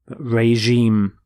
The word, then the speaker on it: regime: is Rex which here is changed to reg regime notice the pronunciation of the G is the sound regime